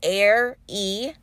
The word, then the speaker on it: Ari: My name is Ari, pronounced like Air-E.